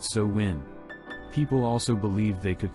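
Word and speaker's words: Samhain: new year in a festival called Salin pronounced so when people also believe they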